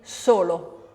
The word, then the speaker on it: solo: And unvoiced S, as in? As in solo.